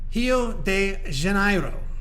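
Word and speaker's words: Rio de Janeiro: of the city but if I pronounce it the way that it's pronounced in Brazil you wouldn't hio de janiro hio not Rio hio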